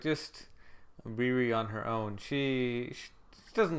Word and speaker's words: Riri: I watched it in the dub, and so she like intentionally pronounces it as Riri, and says no. It sounds similar to Lily, but it's Riri. It's not Lily.